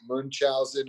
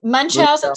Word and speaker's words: Munchausen: Was it Munchausen or Munchausen syndrome by proxy, which I always have trouble pronouncing. Munch, like you're munching.